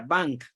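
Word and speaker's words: vingt: Por ejemplo, para escribir 20 se escribe B-I-N-G-T y se pronuncia bank.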